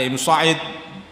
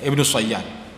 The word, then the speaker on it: Ibnu Sayyad: Ada yang mengatakan Ibnu Sayyad, ada Ibnu Sa'id, tapi itu cara baca saja sebenarnya. Tapi hakikatnya wujud orangnya Ibnu Sayyad.